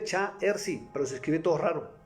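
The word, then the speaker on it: 查尔斯: Yo no sabía que en mandarín se pronunciaba mi nombre Cha-Er-Si, pero se escribe todo raro, con rayas.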